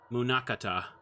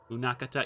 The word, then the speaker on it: Munakata: Uh, Munakata. Munakata. Yeah, that's how you say it.